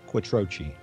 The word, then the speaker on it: Quattrocchi: We would very much like to introduce you all to our good friend, Joe Quattrocchi.